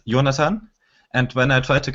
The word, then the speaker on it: Jonathan: it's my German so the German pronunciation of my name is yonatan and when I try